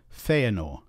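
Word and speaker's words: Fëanor: two letters should be pronounced separately as separate syllables and so we have feanor feanor three syllables not two and of course aend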